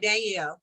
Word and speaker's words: Danielle: You're pronouncing it Danielle. right, Danielle.